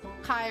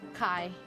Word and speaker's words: Kai: Kai rhyme with guy. Kai.